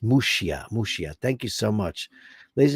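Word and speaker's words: Muxía: The church on the far northwest corner of Spain in Muxia, pronounced Muxia.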